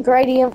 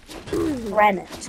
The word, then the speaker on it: granite: level too what grite I always call it gradient and then he's like huh what' you say you say what he just wants me to say it right say it right or say Stone what forget to call it Stone Granite Granite granite gr Granite Granite gradi